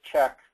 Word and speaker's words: CHEQ: program to be the California Health equality or check as they pronounce it CQ and part of what they